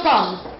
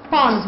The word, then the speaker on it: palms: girls show me your palms yes these are your palms we have a silent l we don't say Palms we say Palms so there's a silent l in that word uh when we were